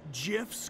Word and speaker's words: GIFs: They're called GIFs, coach. Actually, it's pronounced GIFs.